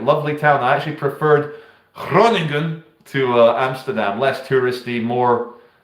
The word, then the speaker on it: Groningen: I know it as Groningen, but I think the Dutch pronounce it as Groningen.